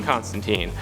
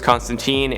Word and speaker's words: Constantine: Number 6, John Constantine.